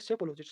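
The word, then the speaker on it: psephologist: Next है अपना सेफोलॉजिस्ट। इसमें पी साइलेंट होता है, ठीक है? लिखने में भी आता है और बोलने में पी साइलेंट होता है, तो इसको बोलेंगे सेफोलॉजिस्ट।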